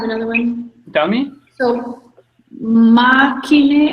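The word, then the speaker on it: makinë: So, makine, how do you pronounce it?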